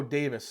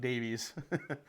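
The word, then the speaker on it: Daviess: brings to the table Davy's is pronounced Oh Davis sorry I grew up there hometown okay Davis I'm sorry I was calling it Davies maybe I'm just dyslexic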